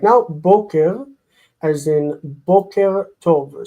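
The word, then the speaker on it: בֹּקֶר: Boker, as in Boker Tov. So we see the word stress is on the first syllable.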